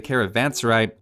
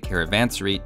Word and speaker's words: Caravanserai: In this video, we're going to take a look at the Hindustani's unique trade building, the Caravanserai, or the Caravansary, depending on your pronunciation.